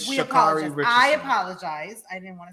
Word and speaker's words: Sha'Carri: Show this morning and Hoda kept saying her name wrong I was like what is holder saying she was like shikari I was like it's shikari she was saying it like all crazy but it's shikari I apologize I didn't